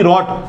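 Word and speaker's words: wrote: अब answer yes हाँ उसने लिखा, अब ही के बाद ही रॉट, राइट की सेकंड फॉर्म, डब्ल्यू आर एक साथ आया, आर सब डब्ल्यू हो, डब्ल्यू साइलेंट हो जाता है, तो यस ही रॉट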